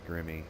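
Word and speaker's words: Grimme: sure if they make I think it's pronounced Grimmie i'm not sure if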